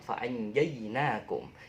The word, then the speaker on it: فَأَنْجَيْنَاكُمْ: Nah, ketika saya membaca lafaz fa'anjainakum, yang terbesit dalam teman-teman apa? Ya, jinak. Ya, jinak, tapi bacanya jainak. Kayak bahasa Inggris ya. Jainak, bukan jinak tapi jainak.